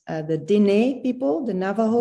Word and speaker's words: Diné: I've gotten a book about a medicine woman from I hope that I pronounce this right, the Diné people, the Navajo Diné, people.